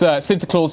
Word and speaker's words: Sinterklaas: It is Sinterklaas Day, as I'm told the pronunciation is, over in the Netherlands.